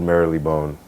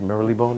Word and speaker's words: Marylebone: Yeah, Obi had put us in one temporary rental on Old Marylebone. That's how you say it? Marylebone, right? Marylebone.